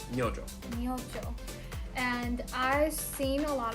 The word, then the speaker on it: Myojo: so uh but actually you do pronounce this j it's myojo and i've seen a